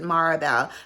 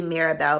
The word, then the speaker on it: Mirabelle: um is a Maribel I'm always pronounce it marabelle but it's actually Mirabelle by vicanto Quinta Canto